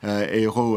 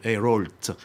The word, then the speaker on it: Ayrault: to avoid any embarrassment, you should call him Mr. Ayrault with an L and the T that you never pronounce in French, but so you avoid the problem.